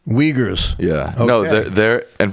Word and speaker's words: Uyghurs: I think they're pronounced the Uyghurs. Uyghurs.